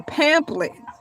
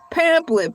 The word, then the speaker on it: pamphlet: I think we need a pamplet. Pamphlet. P H A M P H L E T something like that. The H is silent.